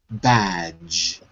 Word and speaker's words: badge: that's it and also the pronunciation of the word badge it looks like it's two syllables but it's one badge badge badge that's it